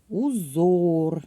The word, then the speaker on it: узор: р звук р і ставимо наголос узор на о рахуємо кількість складів узор